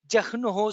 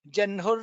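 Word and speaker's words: जह्नुः: There are also Shamitam, there are also people who pronounce as wahnihi and jahnuhu. We will not get into the grammatical uh, peculiarity of these things, but what we are following is as it is taught to us by our guru, which is aha samvartako vanhihi janhur narayano narah. That's how we have been pronouncing, that's how we will continue to pronounce.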